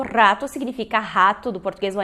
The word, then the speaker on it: rato: Porém, quando a gente começa no espanhol, às vezes não sai esse R forte. A gente não sabe muito bem a pronúncia do R, quer fazer o R do português. Então, talvez tu já tenhas ouvido alguém fazer ou já tenhas feito o som de, né, rato.